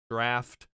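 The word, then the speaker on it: draught: is a good point gh and laugh draft huh i think i've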